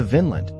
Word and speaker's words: Vínland: vowel as opposed to Vinland with a long vowel which means grape land.